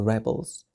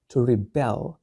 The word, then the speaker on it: rebel: أن تستخدم كذلك كفعل لكن النطق يتغير to rebel يتمرد I rebel أنا أتمرد a rebel متمرد rebel rebel.